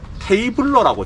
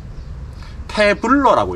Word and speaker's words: 태블러: 이게 이름이 테이블러라고 제가 읽었는데요, 여기에 적혀져 있는 걸 보니까 테이블러가 아니라 태블러라고 읽네요. 태블러. 태블러라고 읽어요.